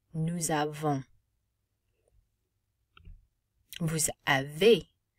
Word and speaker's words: avez: Vous avez. Easy makes an A sound. Vous avez. And the Z is not pronounced.